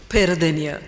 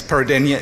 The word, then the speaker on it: Peradeniya: University, and please do help me with the pronunciation. Peradeniya. Many thanks. Peradeniya in Sri Lanka.